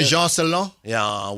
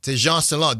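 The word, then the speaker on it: Tidjane Salaün: Tejan Salon. Yeah, Tejan Salon.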